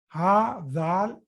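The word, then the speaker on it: هٰذَا: Okay, hadha, if you remember, that also it's written, hadha is written as ha, dhal, like an alif, but it is pronounced as hadha.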